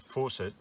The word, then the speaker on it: Fawcett: he said but it's it's pronounced possible it's spelled faucet and uh he said